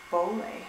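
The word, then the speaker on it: Bole: in Addis the airport I think you pronounce it ble um like pole um it's my least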